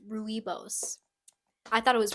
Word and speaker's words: Rooibos: me no milk my mom loves it's actually pronounced Rooibos I thought it was Rubio's too however you say it it's uh there's